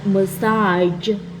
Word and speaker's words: massage: the color the color beige the word m massage and the word prage okay now that you